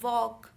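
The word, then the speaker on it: walk: तो जैसे हम टॉक बोलते हैं, वॉक, तो इसमें एल का साउंड, एल लिखा तो जाता है पर उसका साउंड साइलेंट होता है.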